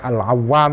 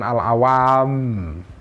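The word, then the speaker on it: العوام: al-muhadzab Nabil janda ya ini sudah Ibnul awwam bacanya awam ya bukan al-awwam alham eh dia berkata kepada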